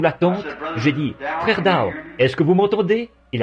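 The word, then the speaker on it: Dauch: et à vrai dire son nom c'est d a u G H mais moi je le prononce simplement da vous voyez et je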